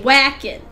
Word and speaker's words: Wakin: hey walk it wait hey Wacken there we go gotta say his name the right way that's nag machine you